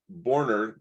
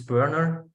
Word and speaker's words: Berner: on the call um you are close it's burner um it's like in America burning wood you know this is how you pronounce it um yeah as being